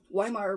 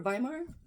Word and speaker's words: Weimar: So Hitler, after World War II or World War I ended, the German Empire dies, and the Weimar Republic, or Weimar? Germans pronounce it Weimar.